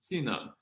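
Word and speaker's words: txiv neeb: Two oddities, along with the fact that the final consonants aren't sounded, explain why tsinung is pronounced tsinung.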